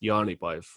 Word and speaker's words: Jaanipäev: John's Day, which in Estonian is pronounced Jaanipäev.